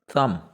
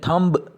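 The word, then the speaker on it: thumb: आठवां थम। थम मतलब अंगूठा, इसमें थंब बी प्रोनाउंस नहीं होगा।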